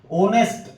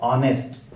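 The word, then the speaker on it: honest: अब इसमें भी एच साइलेंट होता है, ऑनेस्ट और आवर दोनों में एच एच साइलेंट होता है, ठीक है, इसको बोलना नहीं है। ऑनेस्ट, ओ से इसका प्रोनाउंसिएशन यानी उच्चारण शुरू करना है, तो ऑनेस्ट। अब ये आ, फिर इसमें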